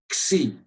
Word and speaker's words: Xi: It's not, it's an X, Xi. And when in a word, it's simply as you would pronounce X in any English word.